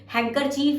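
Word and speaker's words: handkerchief: Next is हैंकरचीफ, जिसको hanky बोलते हैं, रुमाल बोलते हैं, हैंकरचीफ ही बोलते हैं, लेकिन हैंकरचीफ में डी साइलेंट होगा, हमें डी भी ऐड करना, हैंडकरचीफ होता है, हैंडकरचीफ HANDKER और चीफ, ठीक है ना, हैंडकरचीफ।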